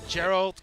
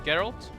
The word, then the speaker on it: Geralt: is going to be Gerald geralt mhm I I don't know how how how do you pronounce italt it's geralt all the green casters and how he wants it to be pronounce his geralt I always want to